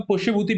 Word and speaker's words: पुष्यभूति: इसको प्रोनाउंस हम पुष्यभूति भी कर सकते हैं, शुभूति भी कर सकते हैं, कुछ भी कर लो जो अच्छा लगता है।